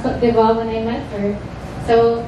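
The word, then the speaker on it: Côte d'Ivoire: I only learned how to actually pronounce Cote d'Ivoire when I met her.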